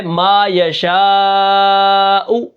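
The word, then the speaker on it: ما يشاء: میم الف زبر ما، یا زبر یا، ما یا، شین الف زبر مد شا، ما یشاء، حمزہ پیش او، ما یشاء، وقفاً ما یشاء۔ اب یہاں پر دیکھیں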